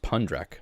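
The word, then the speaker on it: Phundrak: And instead of using the H here is because of Tibetan transliteration, but it's pronounced Pundrack.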